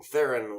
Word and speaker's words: Theron: Or like Theron or something. Anyhow, but like Theron, there are clips of her on talk shows saying, "Yes, good, you got it right." When people say Theron, so I went with that.